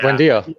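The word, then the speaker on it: Buendía: He was one that they signed from Norwich for like 30 Bundy, million or yeah. something, wasn't it? yeah, Buendia.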